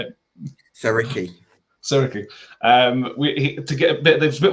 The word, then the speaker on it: Siriki: Siriki.